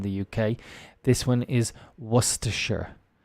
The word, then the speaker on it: Worcestershire: UK this one is Worcestershire it's a type of source that can be difficult to say because of its many silent letters and the sh sound in the middle was to share yes areas of the